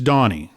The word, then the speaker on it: Doheny: Doheny or Doheny, or how are we pronouncing it? Doheny? It's Donnie.